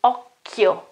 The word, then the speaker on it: occhio: And then I have the H and I, so I won't pronounce that occhio, okay, but we know that the H, okay, in the middle breaks the rule. And the chi gets back to the pronunciation k. And so it is occhio.